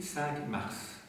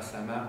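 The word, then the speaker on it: Cinq-Mars: ça va oui saintm ça s'écrit 5 mars ça va il faut le savoir hein c'est pas saintmar de sa Marc àonise hein 5 mars ça se prononce 5 Mar voilà bon alors de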